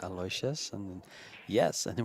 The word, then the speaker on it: Aloysius: People keep telling me that you pronounce it Aloysius. No, it's Aloysius.